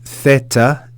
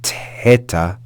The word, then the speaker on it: Theta: we have the consonant Theta Theta or Teta Teta the letter what it really signifies or represents is the sound of the th in Thomas if you hear that